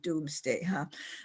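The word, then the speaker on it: Domesday: At that time, it's spelled D-O-M-E-S instead of D-O-O-M-S, but it's still pronounced Doomsday.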